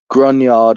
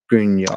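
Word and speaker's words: Gruinard: And I want you to put in Grunyard Island. Now, it is spelt Gruin. UIN. ARD. I think I got it. Island. Yep. Grunyard.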